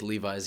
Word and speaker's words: Levy: had to deal with levi's yeah and i also had to deal with in in english levy is a last name so my name is a last name and it's pronounced levi i don't know why